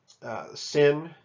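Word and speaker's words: שׂ: Sin makes an S sound, and shin makes the SH sound.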